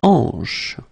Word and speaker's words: hanche: La hanche, remember, H here is not pronounced, so you get the sound en, hanche at the beginning.